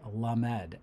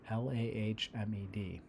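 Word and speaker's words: למד: And I guess it's pronounced Lamed, Lahmed.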